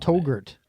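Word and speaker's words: Touggourt: pronounce where he's from I think it's called the I don't togurt togurt togurt like yogurt yeah it's in Algeria oh wow so togurt Algeria what does he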